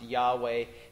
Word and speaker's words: Yahweh: he's invoking the powerful I am Jehovah or pronounced Yahweh the coveted saving name of he's also drawing